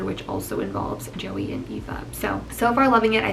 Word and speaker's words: Aoife: This one is about Joey and Aoife, I think is how you pronounce it. It's Aoife.